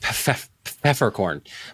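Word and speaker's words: Peffercorn: Well, actually, it's pronounced Pfeffercorn.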